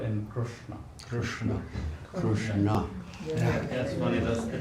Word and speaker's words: Krishna: bring it close to the hard palate, that's how you pronounce Uh-huh. r. With r in Krishna. Krishna.